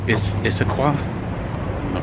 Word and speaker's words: Issaquah: neighborhood in Seattle well it would XPath from Issaquah that's how you say it it's a qual